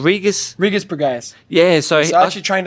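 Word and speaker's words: Regis Prograis: Regis Pagaez.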